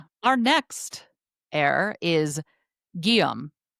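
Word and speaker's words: Guillaume: And so many different pronunciations of William is what I'm learning because our next heir is Guom. Gum. It's spelled Gu U I L L A U M E.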